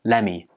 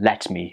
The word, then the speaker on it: lemme: The t sound at the end of let gets dropped and it just becomes lemme. Lemme is much easier to say than let me, isn't it?